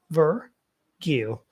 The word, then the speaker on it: virgule: Virgil. The stress is in ver, because the apostrophe in the dictionary, if you look for it, will be before the word, the syllable ver.